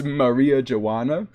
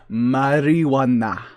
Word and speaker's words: marijuana: for the subscription here it's Maria Joanna no it's actually it's marijuana you have to say it intentionally marijuana intentionally so that it sounds kinda Spanish or Mexican you have to say